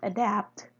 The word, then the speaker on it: adapt: In the word adapt, the rhyme also contains three X values. Again, the extra prosodic consonant T becomes invisible. But even with the absence of the extra prosodic consonant, the rhyme still carries two X values, which makes it a heavy syllable. Therefore, the stress is assigned on the ultimate position.